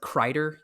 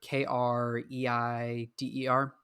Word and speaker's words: Kreider: I think his last name is pronounced like Kreider, Kreider.